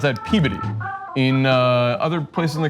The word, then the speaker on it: Peabody: Massachusetts, we pronounce that Peabody. In other places in the country, it's pronounced Peabody, but in Massachusetts, it's Peabody.